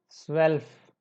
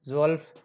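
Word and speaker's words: zwölf: ध्यान नहीं दे पाते, तो उनका प्रोनाउंसिएशन पे कुछ इस तरह से होता है, ज्वाई, जू, जैन, ज्वल्फ, बट इट्स रॉन्ग।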